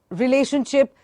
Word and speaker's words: relationship: I think relationship, though it has a t, but the sound of t is not t here because it has ti, so it is sh.